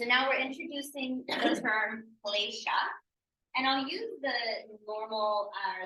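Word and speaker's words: kleśa: So now we're introducing the term klesha, and I'll use the normal, the most used diacritical mark and just putting an accent here, which means that this is pronounced sh.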